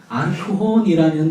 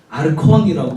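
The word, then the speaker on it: ἄρχων: 여기서 관리라고 번역된 헬라어는 아르코혼이라는 단어인데, 아르콘이라고 읽기도 하고요.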